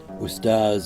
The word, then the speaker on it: Ustadh: Ustadh Mahmoud, Ustadh an honorific in the Sudanese Arabic pronunciation of the word for teacher, often visited Abu Haraz